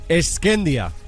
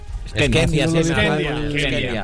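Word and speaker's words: Shkëndija: Eskendia. Skendia. La J es muda.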